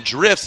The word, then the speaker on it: Drifz: Hashtag FDDrifts16, and that's spelled FD, obviously for Formula Drift, and then Drifts is actually spelled DRIFZ.